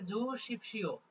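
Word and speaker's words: 주십시오: বা জুসিপ শিও জুসিপ শিও উচ্চারণটা হবে জুসিপ শিও অর্থাৎ খিয়েসান হে অর্থাৎ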